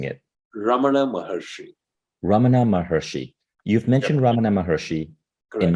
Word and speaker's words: Ramana Maharshi: lesson could you say that name again I'm mispronouncing it Ramana mahershi you've mentioned Ramana Maharishi in many occasions uh